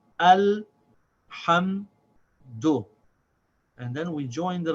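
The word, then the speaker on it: الحمد: Then we have ha with fatha and mim with sakin. And these two also get pronounced as one syllable. This is pronounced as ham. The ha has the vowel, ha, and then it connects with the sound of the meme. Say ham, and then the last syllable, the dal with dhamma, is do. So this is al ham do.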